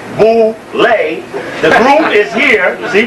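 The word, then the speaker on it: Boulé: to the Boule picnic known as Bole pronounced Bole the group is here see ble ble b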